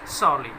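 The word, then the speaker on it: sourly: देखिएगा ये जो सारली लिखा गया स्टूडेंट्स, आर के बाद एल कॉन्सोनेंट है और इससे पहले यू वाउल है, तो आर की साउंड यहाँ प्रोनाउंस नहीं की जाती, तो इसको हम किस प्रकार से प्रोनाउंस करेंगे स्टूडेंट्स, सारली, राइट।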